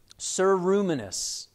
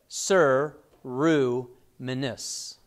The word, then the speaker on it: ceruminous: gland the ceruminous glands sir ruminis like siru minus is how you pronounce that these secrete wax in